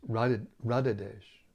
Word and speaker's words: Radhadesh: Now this Radha is not with a long A at the end. It's different than Radha. It's Radhadesh.